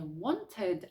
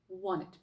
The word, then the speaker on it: wanted: не wanted, а wanted.